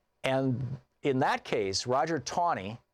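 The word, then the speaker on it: Taney: in that case Roger tawny it's spelled like it's tan ETA and any why but it was pronounced tawny Roger tawny was the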